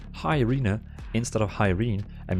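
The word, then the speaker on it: Iryna: She is actually in real world not called Irene. She's actually called Irina. It's spelled I-R-Y-N-A. So Irina.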